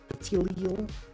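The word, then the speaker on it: Petilil: Petilial? That is how you pronounce that.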